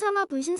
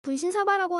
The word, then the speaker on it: 분신사바: 일본어로 분신사마 오이데 쿠다사이라고 하며 이게 약간씩 변형되어서 한국에선 분신사바라고 하든가 발음들이 좀 변형된 종류들이 있습니다.